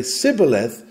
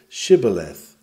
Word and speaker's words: Shibboleth: are indignant that one who can say Sibboleth will not take a little more trouble and pronounce it Shibboleth, as we do.